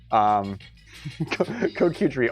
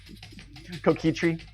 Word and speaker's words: coquetry: Coquetry. Different emphasis. I put the emphasis on the wrong syllable.